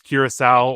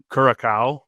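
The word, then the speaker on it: Curaçao: Ecuador will face Curisowl or as Wayne Gretzky pronounces it, Kuraka uh on Saturday, June 20th.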